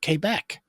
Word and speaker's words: Quebec: Uh, I was given several polite corrections on the pronunciation of Quebec. They said, "You know, Jeff Beck, imagine his sister's name is K."